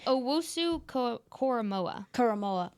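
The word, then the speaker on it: Owusu-Koramoah: Owusu Karamoa.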